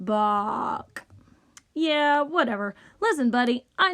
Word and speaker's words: Bach: wig yep it's me buck the greatest composer of all time ah that's great to see you my name is pronounced Bach yeah whatever listen buddy